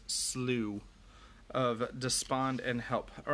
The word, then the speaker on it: Slough: despond and help so it looks like slough s-l-o-u-g-h but i think it's pronounced slew of despond and help